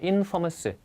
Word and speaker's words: infamous: famous는 유명한 뜻인데 앞에다 in을 붙이면 그 또한 not의 뜻을 갖고 있다. 그래서 얘는 infamous로 발음이 됩니다. infamous.